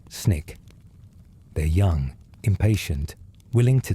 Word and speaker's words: SNCC: The students organize themselves into the Student Nonviolent Coordinating Committee, SNCC, pronounced SNCC.